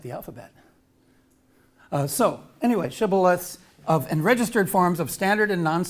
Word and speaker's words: shibboleth: how do you say how do you say shibboleth which is hebrew for bank of a river and they said sybileth because they could not frame to pronounce it